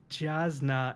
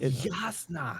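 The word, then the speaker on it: Jasnah: shaon is Shalon maybe jazna is jazna no not even close it's Yas is it Yas yasna yeah yasna hint for the hint for the pronunciation pretty much any name that starts with a J has a a y sound okay yeah that yeah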